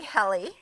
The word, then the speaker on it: Helie: name is because my name being heli and having korean parents koreans cannot pronounce their you know certain letters correctly right they get their ls and their r's confused and their v's and their b's confuse so all my life